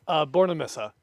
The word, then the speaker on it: Bornemisza: We have Alex Bornemisza. Am I saying it right? Bornemisza.